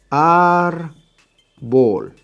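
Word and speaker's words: árbol: give you another one our ball ball remember we count backwards ball is the last syllable our the second-to-last why I am cried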